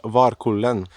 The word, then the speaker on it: Varkullen: Now when I think of it, I think this place is pronounced Varkullen.